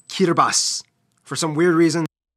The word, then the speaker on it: Kiribati: It's pronounced Kiribati. For some weird reason. Kiribati. Kiribati. Okay. All right. I was way off. I'm sorry. I was way off. The T-I makes an S sound. Kiribati.